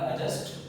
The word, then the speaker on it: adjust: adj आ रहा है, तो whenever the adj cluster is there in the beginning of any word then the d will be silent।